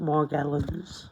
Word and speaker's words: Morgellons: a nightly event with morgan's disease that's how i pronounce it i think everybody else pronounces it morgellons oh yeah this is